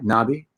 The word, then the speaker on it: Knobbe: it means tiger butterfly knobby uh and okay uh it uh is um a silent k but we do have that uh that e that we pronounce right okay cool cool